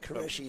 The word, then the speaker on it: Qureshi: the captain's coming Rhys there was some debate about the pronunciation of his name earlier on but Qureshi is what we've got and we got there in the end didn't we and the captains